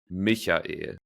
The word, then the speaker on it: Michael: But technically, the correct version would be Michael. So the soft like Yeah, CH Exactly. But Michael.